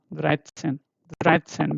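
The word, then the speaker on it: dreizehn: And then this is Dreit, and Sen, Dreitzen, because this T set is this combination, right? T and S, right? So here you have to read it as Dreitzen.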